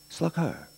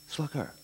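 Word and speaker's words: slacaire: s l a c a i r e pronounced sluger sluger what's it mean a m a Bruiser but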